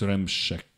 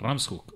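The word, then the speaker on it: Ramshoek: and the Ram uh how do you pronounce ramshek okay I have to change that Ram's hook okay thank you so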